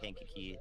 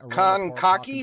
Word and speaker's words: Kankakee: So if you get a warning and it includes Bourbonnais and Kankakee, that would be the reason why, is because